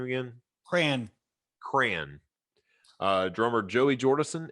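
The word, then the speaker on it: Crahan: proper way to say his last name again cran Cran uh drummer Joey jordison and bassist Paul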